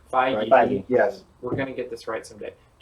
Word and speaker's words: Feige: Feige. Feige. Feige.